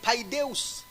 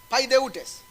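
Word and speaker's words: παιδευτής: Il dit, ceux-là nous ont châtiés, Le verbe châtier là-bas, c'est le mot grec paideus. C'est le mot paideutes. Je l'ai mal prononcé. Pas paideus seulement. Paideutes.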